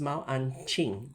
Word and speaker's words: Mao Anqing: Mao an uh the correct pronunciation is Mao anqing supposed to be the spelling is a n q i n g ma an king.